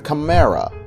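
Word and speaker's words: Kamera: find out about the camra no I didn't just pronounce camra wrong hear me out the camra was a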